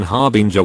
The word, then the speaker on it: harbinger: for what you do i didn't pronounce the g in harbinger with the j sound i rhymed it with ringer i fantasize a lot